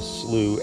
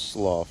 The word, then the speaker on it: Slough: so a little bit of what a slew actually is spell SLO ugh not pronounce Slav salut so at the six mile Cypress Slough